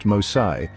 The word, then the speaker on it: Mose: The Spanish commitment to providing refuge for escaped slaves culminated in the establishment of Fort Mose, pronounced Mosai, in 1738.